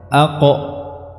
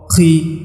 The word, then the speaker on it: ق: Dan sifatnya adalah syiddah, artinya dia tidak ada udara yang keluar saat pengucapan huruf ini, bukan aqo, ko, qi, qi. Ya. Ini adalah sebuah kesalahan.